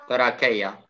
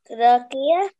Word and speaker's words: trachea: تراكية. ها تراكية دي تتنطق كي. Trachea.